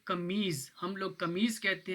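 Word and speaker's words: camisa: Note की होगी कि कमीज़ा मैं बोल रहा हूँ लेकिन यहाँ एस लिखा हुआ है, तो जो एस है वो ज़्यादातर जेड की आवाज़ प्रोनाउंस करता है, ठीक है, पुर्तगीज़ में। इसी तरह आप ऊपर भी देखें,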